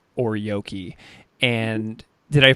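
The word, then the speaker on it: ōryōki: you write in the book about this concept called or yoki and did I pronounce that right yeah okay cool I just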